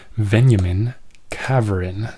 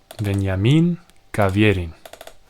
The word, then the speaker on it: Veniamin Kaverin: Apparently it's highly prized Soviet literature from Veniamin Kaverin. Not sure if I'm saying that right. I said it wrong. Veniamin Kaverin. That's it. Not Kaverin.